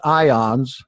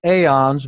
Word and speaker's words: aeons: Yeah, we're getting into Gnostic theology there, but it really should be pronounced ions. I pronounce it aeons because that's what it looks like.